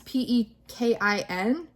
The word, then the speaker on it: Pekin: But I really want, I think it's pronounced Pekin ducks. It's Pekin.